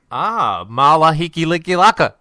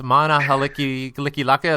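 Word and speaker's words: Mele Kalikimaka: Mala Hiki Liki Laka. I just butchered that pronunciation as well. It's Mana Haliki Liki Laka. That's Merry Christmas in the Hawaiian language, I believe.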